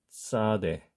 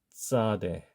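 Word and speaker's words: צדי: 정확하게 연구개음으로 발음한다라고 하면 p 자를 연상시키면서 싸대 싸대 요렇게 발음하시면 되겠습니다 자 쉽지 않죠 그리고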